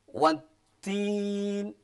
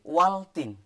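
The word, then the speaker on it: والتين: Lah ini cara membacanya tidak boleh dimunculkan alnya, harus iya benar. dimasukkan. Makanya idgham itu artinya masuk. Asyamsiyah itu sebangsa matahari. Jadi ketika membaca seperti ini, wantin, wantin, tidak boleh waltin.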